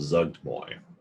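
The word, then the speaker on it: Zuggtmoy: demon lords and i looked up how to pronounce her name it's called zugtboy she is the lady of fungus and um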